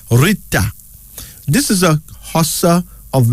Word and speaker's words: Rita: Rita. R-I-T-A, pronounced Rita.